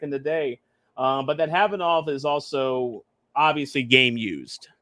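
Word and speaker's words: Khavanov: It's pronounced Havanov. Okay. Yeah, Sasha Havanov, not Kahanov. Like I pronounce it Kavanov.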